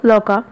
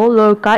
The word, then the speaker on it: Lorca: अगर हम ब्रिटिश के बारे में बात करें तो फेडरिको गार्सिया लोका, ओके, इसमें आर विल बी साइलेंट और बाज़ लोग गार्सिया को गार्सिया बोल देते हैं, तो it will not be like that. And the second one is Federico Garcia लोका, ये अमेरिकन प्रोनाउंसिएशन में बोला जाएगा और are will be pronouns are इसमें बोला जाएगा।